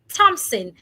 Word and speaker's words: Thompson: Thompson, the H is silent.